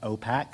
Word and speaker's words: OPAC: The acronym we use for that is OPAC. It's pronounced OPAC, so you may hear us talk about OPAC tonight.